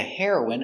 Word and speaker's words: heroine: hero hero heroin heroin remember heroin is the pronunciation for the drug and heroin is a female hero pronunciation heroin heroin she's the heroine of the story let's